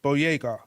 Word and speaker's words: Boyega: We have actors like John Boyega. Yep. Is that how Yes, you pronounce his yes.